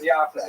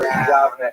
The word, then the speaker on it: Yavne: First of all, what exactly was Yavne?